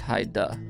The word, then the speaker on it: Heidi: It's spelled Heidi, but she said pronounced Haida.